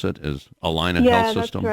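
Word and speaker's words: Allina: work at the at the clinics that that's Alina that's how you pronounce it is Alina Health System that's right okay the the company's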